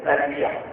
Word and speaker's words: تلبیہ: اس کا تلفظ صحیح ہے تربیہ.